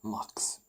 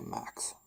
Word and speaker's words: Max: that is not McDonald's it's called MX as it that's pronounced in Swedish but if you're a foreigner you would probably say Max because it's the name Max just got I got